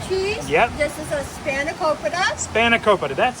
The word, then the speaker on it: spanakopita: This is a spanakopita. Spanakopita, that's how you pronounce that.